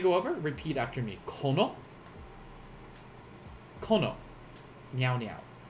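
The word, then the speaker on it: この: Kono. Kono. Meow meow. Kono. Kind of like what Riku says before she punches Titus. Kuno.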